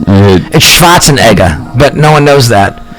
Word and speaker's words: Schwarzenegger: spots in there you go for some reason people say Schwarzenegger and I'm like that's not how it's pronounced it shots a Nega but no one knows that because America no